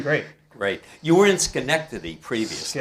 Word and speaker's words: Schenectady: You were in Schenectady previously, Schenectady, right?